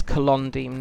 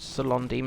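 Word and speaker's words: Celondim: can yes um c's are pronounced k um i'm not sure why he had such a vendetta against the letter k but yeah so the place you start in eredoine is colondem not salon dem as i used to pronounce it when i started playing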